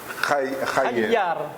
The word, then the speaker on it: Khayer: Khayyar. Pourtant, son inquiet, le Kh se prononce bien.